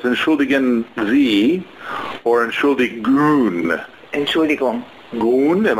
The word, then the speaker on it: Entschuldigung: Oh, it's pronounced a little different. Yeah. So it's Entschuldigen Sie or Entschuldigung.